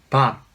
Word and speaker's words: 밥: Yes, bap, like Bob Dylan or Bob Marley.